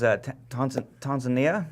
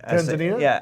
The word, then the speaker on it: Tanzania: It was Tanzania. Okay. Or Tanzania? I say it like an American, Tanzania, Tanzania. but that's not how they pronounce Tanzania.